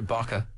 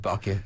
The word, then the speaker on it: Baka: In the midst of all this, your Baka, which you've managed to teach me how to pronounce correctly, left to my own devices, I would have said Baka, you know that, came into your life.